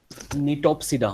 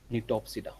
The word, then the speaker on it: Gnetopsida: निटोप्सिडा मतलब जी साइलेंट है, GNETOPSIDA, निटोप्सिडा।